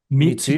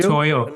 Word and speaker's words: Mitutoyo: Mitsuyo? Mitutoyo.